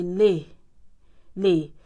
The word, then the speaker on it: les: As long as it is plural, you always say les. You add s you pronounce as if it is lay.